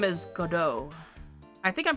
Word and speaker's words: Godot: Prosecutor Godot. But the best prosecutor in the country isn't Godot. It's Mr. Edgeworth. I think that it's like how Depot, the T is silent. Probably.